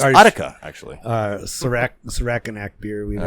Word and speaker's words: Utica: Well, not really anywhere near Udica, but um we drink our pronounced Utica, actually.